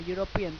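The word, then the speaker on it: European: ई vowel होता है, बट जब उसको पढ़ते हैं, प्रोनाउंस करते हैं, साउंड करते हैं यूरोपियन, तो क्या आता है? यूरोपियन में या का साउंड आता है.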